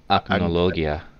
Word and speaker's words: Acnologia: I can never pronounce the big bad dragon from the finale. Oh, Acnologia.